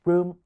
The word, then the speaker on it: washroom: 所以唔會將呢兩個字嘅音質都成重音 was Washroom 而係獨成， washroom 。